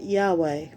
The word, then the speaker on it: Yahweh: In English, it is usually pronounced Jehovah, but some people pronounce it Yahweh.